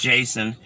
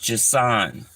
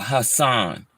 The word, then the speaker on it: Jason: the Bible in fact it's not pronounced Jason it's pronounced jasan or Hassan because the J was would be silent you know a Hassan